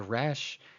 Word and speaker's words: Resh: But then if you have Spanish background, you'll use the Resh the way you pronounce the R in Spanish, which is a sort of trill with your tongue at the front of your mouth, right? That's how the sort of a double R even.